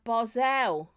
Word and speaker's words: Basel: is such a motocross barzell that's it gab Bozell that's how you say it barzell sake was in